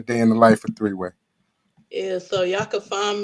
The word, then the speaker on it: 3weii: I know a lot of people think my name is spelled W-A-Y, but I just want to put it out there. It's spelled W-E-I.